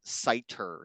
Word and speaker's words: Snyder: So just as one example here, my last name is pronounced cider, like apple cider, but it's spelled in here Snyder.